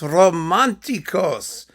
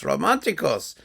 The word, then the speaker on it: románticos: delicious new release Concierto romanticos this is hot stuff really hot stuff but actually they're Mexican so it's not comfortable romantico it's concierto's romanticos thank God I can pronounce my s's well anyway it doesn't